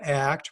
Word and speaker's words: ACT: acceptance and commitment training it's an act pronounced as one word steven c hayes is